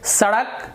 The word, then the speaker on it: सड़क: उसी प्रकार से सड़क, तो जब स बोलते हैं तो जीभ आपका नीचे रहना चाहिए, तो फिर ये दंतव्य स का सही उच्चारण होगा।